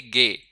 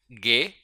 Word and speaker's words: G: जी को हम पढ़ेंगे गे। अब इसकी साउंड जो है वही इंग्लिश वाली ही रहेगी जो जी की साउंड इंग्लिश में होती है। लेकिन अल्फाबेट के तौर पे इसकी प्रोनाउंसिएशन गे।